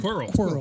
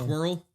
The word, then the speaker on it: Quirrell: Quirrell. Quirrell. But it was Quill. Squirrel, yeah. Quirrell. Quirrell. Oh, like a squirrel.